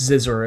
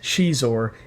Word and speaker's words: Xizor: crap Prince xizor yes I'm not pronouncing it Prince zizor as I did when I was younger Prince Shor is getting a black